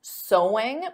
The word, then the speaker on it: sewing: Because of course the pronunciation is the same as sew. There's no sewing though, adding an ing. So sewing is the activity, but the pronunciation is the same as the word sew.